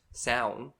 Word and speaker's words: Samhain: notes of how to pronounce it because it's pronounced sound but it's spelled Samhain what yes it stemmed